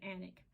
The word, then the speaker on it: Alnwick: What we were thinking about doing, I was going to take him over to Alnwick, Alnwick is how you spell it, but you pronounce it Alnwick.